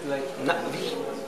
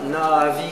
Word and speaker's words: Na'vi: Donc ce genre de truc, like Na'vi. Like Na'vi. C'est pas Na'vi comme dans le film, quand Quaritch présente les Na'vi avec deux A. It's not two A. Yep. But it's one.